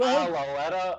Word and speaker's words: Kyle Lauletta: Kyle Latue? Kyle Lauletta.